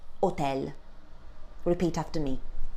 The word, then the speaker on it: hotel: This word in Italian would be pronounced hotel. Repeat after me. hotel.